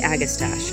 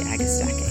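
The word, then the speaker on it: agastache: I guess stocking agastacking I want to say agastash and then I learned from a flower catalog this it's actually agastaki so it's really pretty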